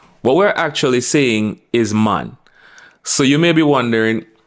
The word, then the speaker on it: man: full speed is that we are saying mon with an O but that is incorrect what we're actually seeing is man so you may be